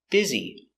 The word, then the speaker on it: busy: Pronunciation, busy. I'm very busy today. B. I. B. B. Z. Biz. E. Busy.